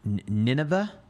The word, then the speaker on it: Nineveh: Someone just asked about Nineveh.